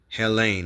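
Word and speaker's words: Ἕλλην: word see what it means okay Helen okay Helen that's how it's pronounced all right let me turn it down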